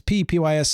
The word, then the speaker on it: Pepys: John Stumpy Pepys, or Pepys, depends how it's P-E-P-Y-S, and Samuel Pepys, that's how you actually pronounce his name.